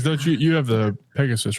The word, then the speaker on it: Pegas: yeah yep pegas okay so Pegasus and pegas are different oh so it's pegas not Pegasus yeah p g a